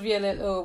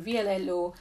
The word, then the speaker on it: VLLO: v-l-l-o so this app i don't know if it's pronounced vlog but i just think you know it's like an abbreviation for something but i call it blue so this app is